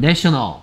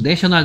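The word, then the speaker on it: national: 됐습니까 네이션 국가 동영상 내셔널 국립의 발음이 이때는 a인데요 내셔널 됐을 때는 이렇게 됩니다 그 다음에 설명이 보이네요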